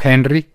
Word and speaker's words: Henri: el huracán earl o henrik como ustedes quieran pero se está pronunciando ahí como enrique en francés va para new england